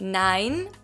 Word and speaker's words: nein: It's the same, just not nein, but neun. Neun. The E and U in German is pronounced as an Oi.